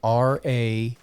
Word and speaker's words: Ragosta: Yeah, the pronunciation almost sounds like Ragosta. So it's like, it almost seems like there'd be a different vowel in there. But yes, it's an O, I swear.